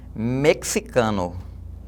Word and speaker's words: mexicano: Então isso aí se fosse pronunciado da maneira correta, de acordo com a Real Academia Espanhola, seria mexicano. Mexicano, tá bom?